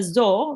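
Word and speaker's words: ظَ: And a zo with the fatha, do you know how it's pronounced? Zo. Very nice. It's zo, but make sure not to read it too long. Just 1 count or 1 second.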